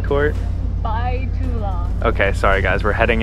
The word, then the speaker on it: Bai Tu Long: and check did I still mess up the pronunciation Court by to long okay sorry guys we're heading into by to